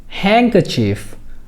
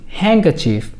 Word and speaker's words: handkerchief: রুমাল এর ইংরেজি হলো হ্যাঙ্কাচিফ, HAND, হ্যাং, KER, কার, CHIEF, চিফ, হ্যাঙ্কাচিফ। এখানে লক্ষ্য করুন HAND এই অংশটুকুর উচ্চারণ আমরা হ্যান্ড না বলে বলবো হ্যাং।